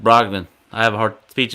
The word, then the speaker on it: Brogdon: I forgot his name is pronounced Brogdon.